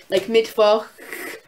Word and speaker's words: Mittwoch: Usually, I think in most words I've seen, they make the sound like you're hissing like a cat, but it's like a... It's really hard for me to make still. Like, I can't really do it. Like Mittwoch.